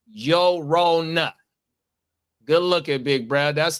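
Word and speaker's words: Llorona: The double L makes a Y sound in Spanish.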